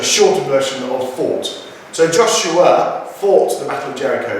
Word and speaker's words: Joshua: Now then, when we say Joshua, we turn that into a three-syllable word, Joshua. But actually for this song, it's Joshua. Joshua.